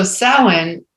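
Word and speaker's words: Samhain: and and that's something to remember because so sowin which is spelled s-a-m-h-a-i-m is the time when the Celts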